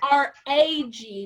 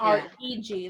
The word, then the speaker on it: rag: So I would call that, it's spelled R-A-G, not R-E-G, like you were saying. I would call that a rag, not a reg.